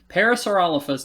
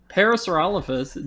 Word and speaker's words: Parasaurolophus: was the uh peripherals the paris were all parasaurolophus did not blow fire you can't even name